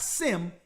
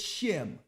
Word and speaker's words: Shem: of the sun shim it's not sim it's shim right so now let's go